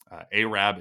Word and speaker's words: Arab: at a church in a small town called aab Alabama aab is how you pronounce it and I again I don't think